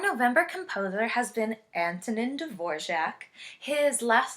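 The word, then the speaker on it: Dvořák: His last name is pronounced kind of strangely for the way it's written, so try saying it with me. Dvorak. Very good. There's kind of a mysterious J in there somewhere.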